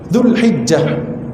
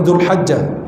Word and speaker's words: Zulhijah: utsimin pelafalan tempatnya zulqdah Zulhijah bukan zulhajah Zulhijah zulkadah Zulhijah Muharram wa